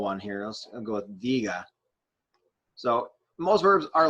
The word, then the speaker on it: diga: Let's go with diga. So most verbs are like this, where they have, most of them will have 2 syllables to start, meaning that this is the syllable that is stressed, di. The diga, if I'm saying,